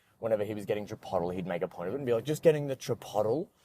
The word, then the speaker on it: chipotle: Because I've known how to say it's chipotle the whole time, like, I always knew that, but I just didn't want to, I just say funny things sometimes.